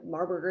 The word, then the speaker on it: Marburger: Geraldine rhymes with Maryland, and Marburger is like hamburger, so it's a tough one to know, but that's how you say it.